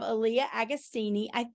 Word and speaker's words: Alliah Agostini: And also with us, we have Alliah Agostini.